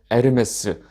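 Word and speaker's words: Hermes: 또 여행의 여신인 헤르메스요 헤르메스를 다른 발음으로 하면 에르메스 딱 하면 뭐 아시는 분들이 계실 거예요.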